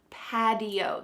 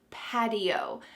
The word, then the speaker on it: patio: a D sound pad, patio. This is very common in American English when there is a T surrounded by vowels, that T changes to a D, patio.